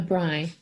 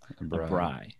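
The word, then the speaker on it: braai: like that and so you called it what a Bry Bry you know it's it's spelt Braa I oh yeah okay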